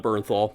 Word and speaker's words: Bernthal: Yep, John Bernthal.